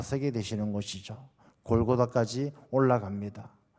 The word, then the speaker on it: 골고다: 라는 뜻을 가지고 있습니다 원래 골고다 는 이제 우리 식으로 발음 하는 것이고 모굴 갈 타 이렇게